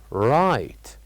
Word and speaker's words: right: we said that the word right has uh two uh uh two silent letters so repeat it with me right right what do you think those silent letters are of course they are G and H these are the silent letters in the word right and now we move